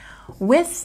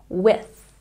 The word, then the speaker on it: with: with the phonetic transcription with has a t so don't forget to stick your tongue between your teeth with with with looking has